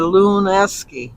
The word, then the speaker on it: Lewinsky: The W is silent. I know that, and I remember she said in Polish the W was sounded like a V, but not in her name. So she said Luneski. Luneski.